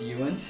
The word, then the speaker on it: Euan: Oh, so it's not Edwin. It's Euan.